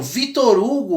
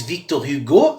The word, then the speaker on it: Victor Hugo: Bom, Víctor Hugo ou em francês Victor Hugo, né, que seria a pronúncia adequada do seu nome, né, é um autor